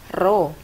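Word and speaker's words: ρ: massa jenis zat cair ini dibacanya adalah roh ya bukan ke ini terus zat cair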